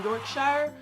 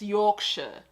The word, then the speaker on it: Yorkshire: going to be like york sure instead of york shire evening afternoon morning howdy